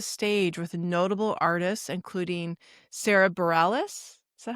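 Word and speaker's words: Sara Bareilles: And he's also shared the stage with notable artists, including Sarah Bareilles. Is that how I say her name? Yeah. Sarah Bareilles, Sean and Sarah Watkins, Colin Hay, Stephen Kellogg, Tyrone Wells, and Sean Colvin.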